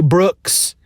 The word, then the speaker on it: Brooks: shannara books by terry brooks which rhymes with books so i was all